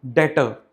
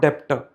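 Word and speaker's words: debtor: Assets का तीसरा मतलब है something called, you know, in this word this B is silent, तो ये वर्ड क्या बना? डेटर, नॉट डेप्टर।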